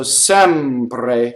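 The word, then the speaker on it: sempre: The first E is open E, The final E is closed E, right? So Sɛmpre, Sɛmpre, right?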